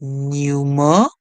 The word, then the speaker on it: numerous: Then OUS in English would make the sound us. The O is silent. Our word here is numerous, numerous, numerous, numerous.